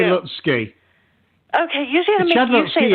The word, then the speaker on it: Lutzke: I'd say Lutzke.